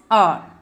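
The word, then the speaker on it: hour: So already we have seen R, H silent. So hence the pronunciation started with vowel letter and vowel sound. So that means your answer is an. Okay, so vowel letter with vowel sound. This H is silent there.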